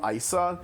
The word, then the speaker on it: Ayisha: And so, like, since they don't have English voice acting, that's how her name is pronounced in the game, Isa.